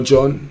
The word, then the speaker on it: Jean: Alright, the next outfield player that we've got is man like Jean or John, you get me? French pronunciations and that.